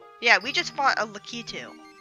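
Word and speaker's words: Lakitu: we just fought a lucky too apparently that's how it's pronounced my entire life i pronounce it lack a chip all right because i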